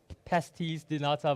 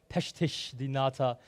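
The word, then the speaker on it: pastéis de nata: that right again um I always thought it's like P pases dinata but someone was like no it's like PES pesti dinata uh and uh she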